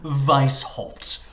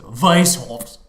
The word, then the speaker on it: Weishaupt: Weishaupt. It's a German name, so you have to pronounce it properly, right? So Weishaupt. Hopefully, I'm pronouncing that correctly.